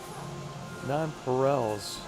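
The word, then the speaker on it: nonpareils: Nonparels is how it's pronounced.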